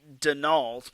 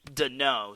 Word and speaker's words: Deneau: So I pronounced it Denault, but it's actually Deneau.